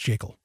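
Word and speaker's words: Jekyll: It's the creature from Jacel Island. Yes, it's pronounced Jacel.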